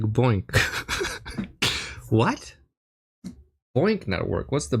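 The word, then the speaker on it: BOINC: aka world using the boink boink network pronounced like boink.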